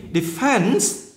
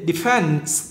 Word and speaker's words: defense: Trong khi Defense, nhấn âm 2. Defense.